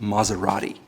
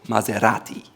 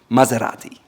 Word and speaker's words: Maserati: Next up is a luxury car, and many people here call it Maserati. However, it's called Maserati, Maserati, Maserati. It's not A, it's A, and it's R. Maserati.